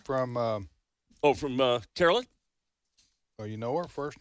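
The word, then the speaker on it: Karoline: levit uh so so it's but it's she pronounces it Caroline Carolyn I Carolyn I've heard Carolyn love it but I okay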